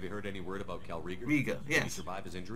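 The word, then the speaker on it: Kal'Reegar: was this have you heard any word about calright riga he can survive his injury that's how you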